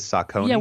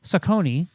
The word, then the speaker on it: Saucony: you pronounce it over there? Is Saucony?